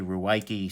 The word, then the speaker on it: Ruike: here ooh why key rake I think they pronounce it rake no one understands what you say if he say rake so I say Rou Y key sorry about that guys